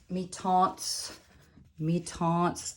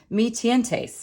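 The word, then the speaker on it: Mi-Teintes: I thought this was a Spanish word. I had Spanish in college. I called it Me Tientes, and I think that's how you would say it in Spanish, but it's French, and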